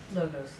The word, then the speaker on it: logos: Okay, from metaphysics, How do I pronounce the Greek? logos.